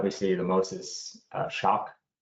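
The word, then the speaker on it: Schöck: see the most is shock s h o e c k something the spelling is a little bit weird we just pronounce it shock isocor is the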